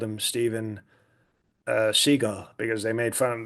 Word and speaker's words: Seagal: It's actually pronounced seagull by the way.